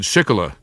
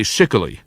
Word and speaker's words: Schickele: My father said Shikla, but I say Shikili, as in Peter Shikoli, host of Shikoli Mix from PRI Public Radio International.